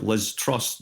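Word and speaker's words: Liz Truss: you have people like Liz trust which rhymes with distrust I mean you know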